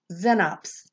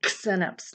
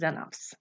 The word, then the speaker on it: xenops: e next to it it's not pronounced like x it's pronounced like z isn't that weird so this says xenops it doesn't say xenups it says xenops i know the language